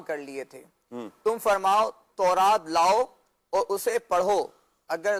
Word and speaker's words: تورات: آیات ہے اس میں لفظ ہے تورات، صحیح، تو را پر زبر ہے، تو یہ عربی